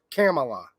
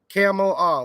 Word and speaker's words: Kamala: I think she calls herself Kamala. Kamala, like the dromedary, I think.